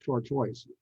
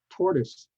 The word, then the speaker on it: tortoise: second one sucin and tortoise not Toro tortoise Vineyard itinerary and so